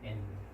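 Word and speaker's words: Ἐν: 자, 여기에 엡실론이 대문자다 보니까 뭐가 찍혀 있습니까? 이렇게 됐습니까? 연기식. 그렇습니다. 예, 연기식입니다. 연기식. 그러니까 발음에는 전혀 영향을 미치지 않습니다. 그렇죠? 그래서 N이라고 말합니다. N.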